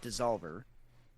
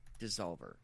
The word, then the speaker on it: DSSOLVR: The brewer's name is, I guess I'm going to pronounce it Dissolver, but it is spelled DSS. I guess that's an O. DSSOLVR, Dissolver.